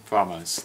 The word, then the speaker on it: FAMAS: Is that FAMAS functional? FAMAS. That's how you pronounce it.